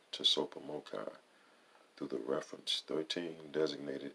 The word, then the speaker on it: TSOPAHMOCCI: Number 4, carry out these humbling efforts of ICOPAHMOCCI, pronounced Tsopahmocci, through the reference 13 designated areas in as a wiser way as possible as needed.